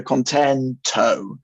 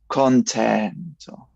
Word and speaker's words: contento: But we don't want to go contento. We want to go contento. And that last syllable, although it's long, the note, we don't want to stress it in a way that is kind of we're putting something else onto it.